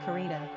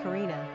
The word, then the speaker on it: Carina: Popularity of the girl named Carina.